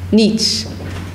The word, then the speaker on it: Nietzsche: How do you pronounce? Nietzsche.